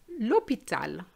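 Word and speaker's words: l'hôpital: it a bit fresh tip number three don't pronounce the h we are going to say lotel lopital and here you're going to see that the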